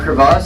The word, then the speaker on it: crevasse: Now a crevasse is specific to ice, it's a crack in ice. I had to be all fancy with it, so pronounce it differently. A crevice is a crack in rock, and a crack is